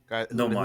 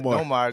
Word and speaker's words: Nomar: Nomar Garciaparra.